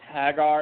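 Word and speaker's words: Haggar: got chosen hang on hang on let me pronounce it for you it's Hagar and her and her accomplice oh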